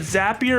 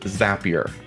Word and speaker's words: Zapier: do you call it zappier or zapier it is pronounced zapier it's not drinkier it is that a lot of percent because zapier makes you happier that's true that's true